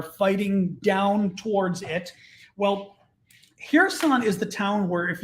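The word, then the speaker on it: Херсон: a good story too so here's some or here's on sorry to pronounce it the ukrainian way down here her son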